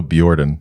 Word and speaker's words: Bjordan: The pronunciation of your project. Yeah. I go Bjordan. Bjordan. Yeah, like Bjork.